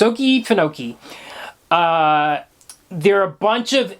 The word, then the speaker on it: Okefenokee: I'm going to mispronounce that a couple times through the episode because sometimes I tend to say Oki. I can't even mispronounce it the right way. Okefenokee. It's Okefenokee.